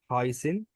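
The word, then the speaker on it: heißen: هايسن. ليه هايسن؟ الاي والاي، اللي هو الاي والاي لما بيجوا مع بعض بنطقهم اي.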